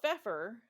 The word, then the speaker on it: Pfeffer: Michelle Pfeffer, who and it is spelled Michelle. It's Michelle Pfeiffer without the I. Oh, okay. So Pfeffer. Yeah. It's German for Pfeffer, yeah.